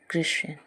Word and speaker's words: christen: Example है जैसे CHRISTEN, क्रिश्चियन। तो इसमें जो है, जैसा कि यहाँ बताया गया है STEN, तो STEN आया हुआ है जिसमें टी साइलेंट होता है और हम लोग इसे क्रिश्चियन पढ़ते हैं।